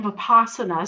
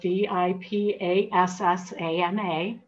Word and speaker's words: vipassana: by our compulsive thought patterns and then in vipassana so this is the third stage and it's spelled v-i-p-a-s-s-a-n-a it's the most common kind of meditation taught